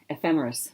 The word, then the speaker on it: Ephemeris: She's the designer for the, how do you pronounce that? Ephemeris? Ephemeris.